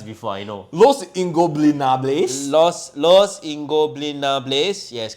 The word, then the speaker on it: Los Ingobernables: I can't pronounce it, bro. We have done this dance before. I know. Los Ingobernables. Los Ingobernables.